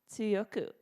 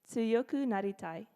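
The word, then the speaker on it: 強くなりたい: the little trick here think of the way you pronounce a soft T or T flap for you linguistics nerds in the word water or subtle naughty-naughty tight tsuyoku naritai very good like I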